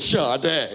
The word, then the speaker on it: Sade: like that singer shade well my name is spelled Sade but I pronounce it shade great my name's Dennis